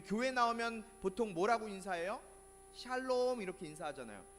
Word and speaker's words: 샬롬: 세게 발음하면 안 돼요. 우리나라 사람들 이게 세게 발음하면 욕이 되니까. 샬롬.